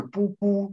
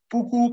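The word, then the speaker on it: ཕྲུ་གུ: 这个你看这个文字写的是出姑，但实际的读音是不姑啊，不姑菩提逆底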